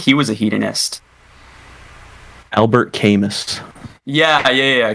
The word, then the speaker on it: Camus: was a hedonist albert khamist yeah yeah camus yeah okay yeah that doesn't look like chemist all those philosophers last